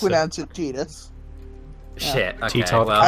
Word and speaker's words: Tidus: I mean, you just pronounce it Tidus.